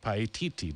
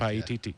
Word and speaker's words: Paititi: Okay, Fernando, the lost city of Paititi. Did I say it right that time? Correct. Paititi.